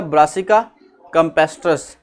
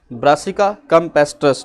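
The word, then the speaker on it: Brassica campestris: Mustard plant scientific name ब्रासिका कैम्पेस्ट्रस, इसकी pronunciation आपने देखनी है, दोबारा देखिएगा, ब्रासिका कैम्पेस्ट्रस, ब्रासिका कैम्पेस्ट्रस।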